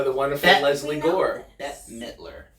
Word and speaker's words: Midler: wonderful Lesley gore death Midler Midler I admit like a baseball mitt yeah I know that